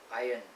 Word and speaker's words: iron: normal way of pronouncing it is without r which is iron iron iron iron iron